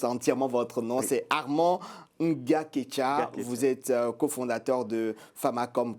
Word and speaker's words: Ngaketcha: Je prononce entièrement votre nom. C'est Armand Nga-Ketcha.